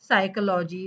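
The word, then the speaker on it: psychology: एस इथे सगळ्यांची गफलत होते स्टार्टिंगला पी एस झाल की फक्त स साऊंड करायच एस साऊंड करायच पी च साऊंड करायचं नाहीये okay example सायकॉलॉजी psychometric okay so पी पासून स्टार्ट होणार पण म्हणायचं सायकॉलॉजी का कारण पी सायलेंट आहे पी एस वाय सी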